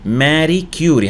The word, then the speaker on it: Marie Curie: Marie Curie هكذا ينطق اسمها Marie Curie and she is a famous scientist وهي عالمة مشهورة.